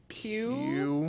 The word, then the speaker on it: Pugh: Pugh.